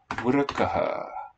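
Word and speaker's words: वृक: Vrkaha. Vrka. Vrka. In Vedic, the first syllable is accented.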